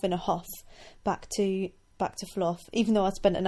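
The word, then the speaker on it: Fluph: Fluff is spelt F-L-U-P-H, and it is a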